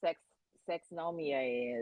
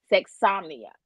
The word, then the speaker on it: sexomnia: you guys know what sex sex nomia is but it's uh people who have they're almost sexomnia sorry said it wrong sexomnia it's uh people who